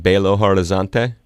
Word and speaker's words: Belo Horizonte: land forgive me if I don't have the pronunciation wrong but I'm gonna go out on a limb and try it Belo Horizonte yeah it's my hometown but am I saying